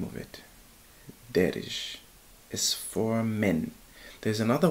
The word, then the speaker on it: Daarej: to pronounce the name it's an Arabic name actually darish but yeah that's the